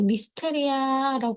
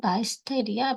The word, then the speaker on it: Mysteria: 패턴은 미스테리아 하는 거예요 근데 이게 미스테리아 도 하지만 마이스테이 아라고 읽히기도 해요 이게 어 읽는 그 나라마다 발음이 또 달라지기 때문에 이제 미스테리아 아니면 마스테리아 뭐 이렇게 읽기도 하더라고요 그래서 요렇게 해서 이걸